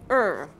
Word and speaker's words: warm: used this color wo warm War warm yes it's O is the vowel two vowel sounds o that's what you have to remember warm warm warm yeah warm yeah